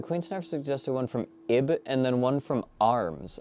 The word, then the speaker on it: Ib: Okay, so Queen Snarf suggested one from Ib and then one from Arms.